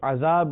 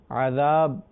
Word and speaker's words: عذاب: اس کا تلفظ درست ہونا چاہیے، اسے عذاب نہیں کہیں گے، عذاب پڑھیں گے.